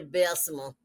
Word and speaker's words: Bessemer: So y'all know Bessemer is spelled Bessmer, but I Mhm.